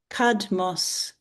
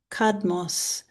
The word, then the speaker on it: Cadmus: Cadmos. Cadmos.